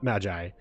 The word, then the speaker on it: Magi: The Magi pitch, yeah. Also, I've learned to pronounce M-A-G-I as Magi.